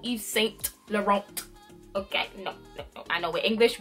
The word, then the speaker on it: Yves Saint Laurent: set the wrong okay so no T no no Yves Saint Laurent okay I know we